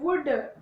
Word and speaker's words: would: And would, WOULD, would. There is no L sound in these words.